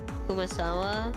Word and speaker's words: Kumasawa: Like Kumasawa. Did I say it right? Yeah.